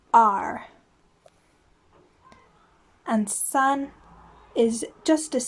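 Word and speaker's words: 二: than the top on both sides so it's pronounced r and sun is just as simple it's three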